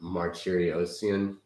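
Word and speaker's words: Martirosyan: So we're looking at the replay of the Triple G versus, I believe it's pronounced Martyriosian, the Nightmare.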